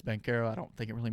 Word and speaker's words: Banchero: I thought it was Banchero, but it's Bankero.